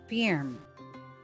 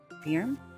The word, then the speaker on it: firm: Can you pronounce this word for me? What did you say? Firm? Again? Firm. Firm?